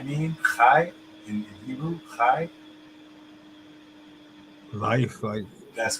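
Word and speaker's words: חי: Um, example I would use is you know what chai mean? Chai in Hebrew, chai.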